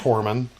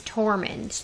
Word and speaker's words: Tormund: Jorah okay Norman Norman not a torment his name is tormund Foreman I read because